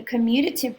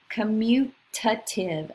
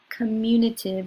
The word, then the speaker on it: commutative: highlighted here so the commutative property note the spelling and the pronunciation commutative not communicative or communicative but commutative it applies to both